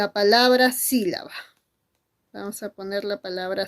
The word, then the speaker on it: sílaba: Tú dices sí, la, va. Muy bien, 3 sílabas, hijito. ¿Y te has dado cuenta que hay una mayor fuerza de voz? Y está muy notorio porque hay una tilde de por medio. ¿Y dónde está la mayor fuerza de voz? Profesora, está en sí. Por lo tanto, el sí sería la sílaba tónica.